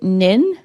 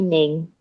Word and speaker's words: Ning: So is it Nin? Hopefully I'm pronouncing your uh your name correctly. You can just call me Ning.